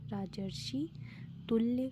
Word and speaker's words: राजर्षि तुल्य: तो ये राजर्षि तुल्य है, राजर्षि तुल्य, ना कि राजर्षि फिर तुल्य, अलग अलग नहीं है, एक ही में है, ठीक है।